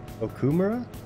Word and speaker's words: Okumura: difficult for me to say Okumura Okumura Okumura Okumura am I pronouncing it right now kumara there you go